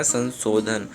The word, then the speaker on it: संशोधन: निबंध में संशोधन किया है, संशोधन उच्चारण तो सही आ रहा है, लेकिन यहाँ पे जो सो होगा वो तालव्य हो जाएगा, संशोधन।